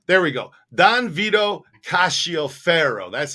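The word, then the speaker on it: Cascio Ferro: ka kashi o fero castio pharaoh i i mispronounced a name back here cassio pharaoh i need to uh look at this seek his because the c-i-o that shio ka there we go don vito cacio ferro that's how you say that name right there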